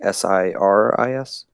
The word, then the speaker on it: Sirius: Sirius like a star, like Siris? Yes.